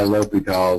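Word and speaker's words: L'Hôpital: How's your teacher pronounce that? Lahopital? Yeah, L'Hopital is a rule. Lopital? Yep. Not 2 syllables like I just did.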